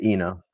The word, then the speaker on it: Enoh: Uh is it Eno? Is that how you pronounce it? Yeah, Eno.